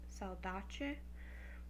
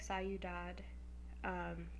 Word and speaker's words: saudade: poem that correspond with the word salad Aceh which looks like psy you'd odd but it's not pronounced that way but basically I believe